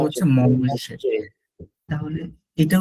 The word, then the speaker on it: mange: সো এখানে দেখেন মঞ্জে, মঞ্জে ছিল টু ইট, উচ্চারণটা হচ্ছে মঞ্জে।